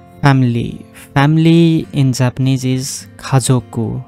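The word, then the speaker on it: 家族: ーの名前、日本語で家族のメンバーの名前は覚えました。 Family. Family in Japanese is 家族。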